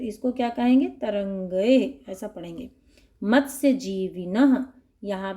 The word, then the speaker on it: तरंगैः: तरंगैः, क्योंकि ऐ की मात्रा है इस पर, और